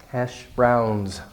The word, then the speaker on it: hash browns: hash browns especially this don't put that eat at the end like older Koreans might do has she don't say has he because that might sound like like hashish which is an illegal drug it's kind of like marijuana but it's more concentrated and stronger hashish you don't want to be misunderstood they're hash browns Dimity buzz light your